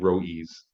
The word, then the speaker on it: Rodrigues: The S on the end is Rodrigues, is the actual, so it rhymes with King Rodrigues.